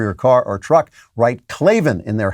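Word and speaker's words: Klavan: we sent you and say clavin that way so you got to stick to it clavin and then you got to spell it k-l-a-v-a-n so as you know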